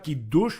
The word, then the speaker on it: Kiddush: El Kiddush se debería pronunciar Kiddush, lo repito, pero nosotros los jaquitos,